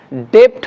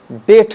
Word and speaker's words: debt: ঠিক সেরকম ডেপ্ট হওয়ার কথা ছিল, DEBT ডেপ্ট, কিন্তু বি সাইলেন্ট আছে, সুতরাং ডেট হবে।